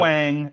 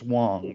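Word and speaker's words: Huang: Is that how you pronounce Wong, Wong. not Yep. Wang. It's Wong.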